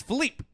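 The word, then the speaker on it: Filippe: us for years that his actual way you say his name he's portuguese brazilian is philippe but it's spelled f-i-l-i-p-p-e okay but i guess you his parents would call him philippe he never corrected us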